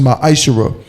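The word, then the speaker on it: מעשר: You can find this in Numbers 18 and 21, and Malachi chapter 3, verse 8 through 10, means 10th in Hebrew and is pronounced ma'ashara.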